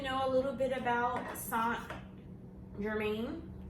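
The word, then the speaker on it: St-Germain: I have it on this because I wanted to know a little bit about Saint Germain. It's like Saint Laurent.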